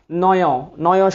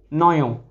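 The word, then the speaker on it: নঞ: আমরা আজকে আলোচনা শুরু করব নয় সমাস দিয়ে। ঠিক আছে, তাইলে আমরা আলোচনায় চলে যাচ্ছি। আচ্ছা, নয়, অনেকে এটাকে নং বলে। নং আসলে এটা সঠিক উচ্চারণটা হবে যে নয়।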